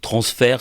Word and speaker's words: Transfaire: Alors, transfert, ça s'écrit TRNASFAIRE. Tout à fait. Voilà, c'est la contraction de transmettre et de faire.